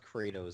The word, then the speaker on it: Kratos: move over to China his name is pronounced Kratos and not Kos God